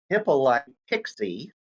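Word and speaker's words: Hippolyte Pixii: time period if we go back to france hippolyte pixie that's how the name is pronounced built in early form of alternating current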